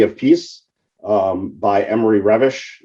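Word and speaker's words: Reves: Peace um by Emory revish is how it's pronounced although in English it looks like Reeves uh which talked about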